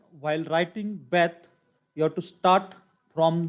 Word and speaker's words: Beth: If I put Dagesh, then its pronunciation is clear B. Beth. B. B in boy. Beth. So its pronunciation is Beth.